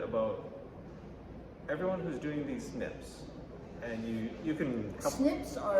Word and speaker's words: SNPs: Yeah, which is pronounced SNP, pronounced SNPs.